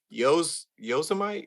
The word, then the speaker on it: Yosemite: You know who else pronounced it that way? Who? Donald Trump. When they gaze upon Yosemites, towering sequoias.